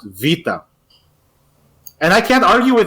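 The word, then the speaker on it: βήτα: he told me that in Greece it is pronounced Vita and I can't argue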